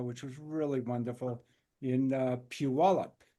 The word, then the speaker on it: Puyallup: I was in Washington a couple of weeks ago which was really wonderful in Puyallup. Puyallup?